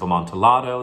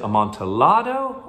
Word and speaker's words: amontillado: the big question is pronounce it amontillado or amontillado it's a spanish wine so it's probably supposed to be a montearo but this is set in italy where two l's just make a longer l sound so i'm